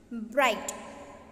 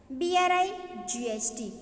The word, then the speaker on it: bright: Bright. B-R-I-G-H-T. Bright. C. G is silent here. You should not pronounce G here.